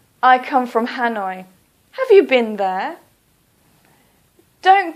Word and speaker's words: Hanoi: Please try to use the English pronunciation. So, for example, Hanoi. Please don't say Ha-noi. Please say Hanoi.